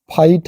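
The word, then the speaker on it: fight: लेकिन टी जुड़ गया है लाइट है जी साइलेंट टी पढ़ रहे हैं वैसे ही नाइट है फाइट है माइट है ब्राइट है कॉट है हट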